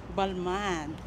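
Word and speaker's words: Balmain: Ano pronunciation ng bag mo, please? Balman.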